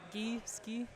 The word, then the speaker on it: Gei: one knows is it gei yeah yeah you know name pronunciations g g like a goose plural a a I'm looking a geese key that is true good